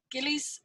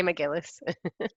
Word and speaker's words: McGillis: over now to gillies if I've mispronounced your surname I apologize I'm pretty no that's absolutely fine I'm used to all sorts but it's a McGillis great job by the